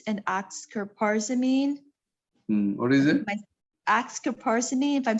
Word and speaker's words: oxcarbazepine: Oxcarbazepine, if I'm saying it right.